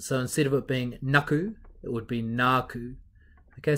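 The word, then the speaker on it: nāku: instead of it being naaku it would be naaku okay so it just means that you hold on to that vowel sound to make it a little bit longer it's called a macron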